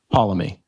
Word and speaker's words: Poulomi: Poulomi. You got it. Spot on. I did coach him and said it rhymes with follow me. That's how you should say it.